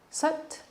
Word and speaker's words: Sat: The chant is Sat Chit Ekam Brahma. So breaking that down, Sat, S-A-T, sounds a little more like S-U-T, Sat, which means truth, or maybe a better description is universal truth.